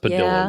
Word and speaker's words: Padilla: It's pronounced Padilla.